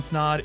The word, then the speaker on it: Snaadt: what's going on guys my name is snod it rhymes with a lot and you're listening and